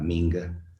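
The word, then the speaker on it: minka: Y lo hemos llamado la minga. Efectivamente, se escribe con K, pero se pronunciaría como que estaría escrito con G, la minga.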